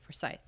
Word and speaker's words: Forsyth: good question for forsyth forsyth okay that's how people pronounce it for scythe okay uh dawson gwyneth